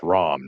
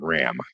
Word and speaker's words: Ram: There's the second shocker, which is how that's ROM, not RAM.